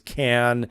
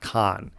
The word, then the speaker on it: Cannes: back some years it's con some years it's can but the correct pronunciation is can-can is the correct way not con so I just want to clear that up